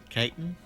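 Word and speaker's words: Kaitan: It's Elizabeth Caitan. Caitan? It's Caitan.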